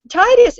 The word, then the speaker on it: Titus: program and I thought Titus it you know it rhymes with phlebitis and I think we